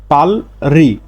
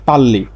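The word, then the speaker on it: 빨리: আর উপরে বা মাঝে এর উচ্চারণ যদি রিউল থাকে তাহলে এর উচ্চারণটা হয় র তাহলে স্বাভাবিকভাবে এর উচ্চারণটা হতো পালরি পালরি কিন্তু এর সঠিক উচ্চারণ হচ্ছে পাল্লি এর কারণ বাচছিমে যদি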